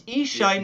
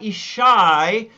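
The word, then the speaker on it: Yishai: it's ishai like e so the stress is on the e it's ishai not ishai which is sometimes done in israel so i love it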